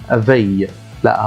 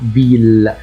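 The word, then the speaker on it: ville: كلمه مدينه ا هنا مش هينفع اقولها في لا هتنطق فيل ما هي كل قاعده شواز فبقول ايه فيل فيل اذا كان عندي ا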